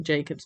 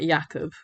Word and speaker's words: Jakub: I'm learning Polish, because obviously Jacob's Polish. And it's funny, I say I'm learning Polish, and I still say his name as Jacob and not Jakub, because I've always called